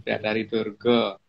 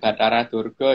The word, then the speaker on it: Batari Durga: Jadi bacanya bukan Gedeng, Gedeng Pramoni atau Sang Hyang Batari Durga. Itu bukan Batara Durga ya, karena Batari Durga itu perempuan.